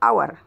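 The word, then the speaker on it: hour: So we, H is silent here, we say our.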